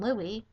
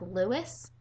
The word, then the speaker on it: Louis: deal about Eleanor and Louis. So that automatically makes you a Directionator. The first time, if you've ever had anybody ever see you pronounce Louis' name like Lewis, well, guess what?